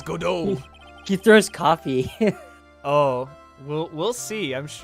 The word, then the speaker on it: Godot: lost a case is it pronounced godo it's godo godo guys uh French don't care about the